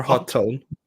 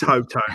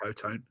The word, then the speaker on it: Hotone: Is it Hot Tone? Yeah. Well, it's only one T, mate. I'm English. Yeah, I've got to pronounce they should just spell it correctly. I know, but It's Hotone. It's definitely Hotone in my world.